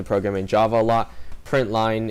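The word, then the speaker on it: println: in java a lot print line is the way you pronounce that um and obviously when it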